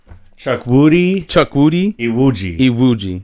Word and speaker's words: Chukwudi Iwuji: It's Chukwudi Iwuji.